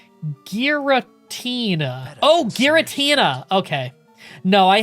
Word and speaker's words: Giratina: It's pronounced Giratina.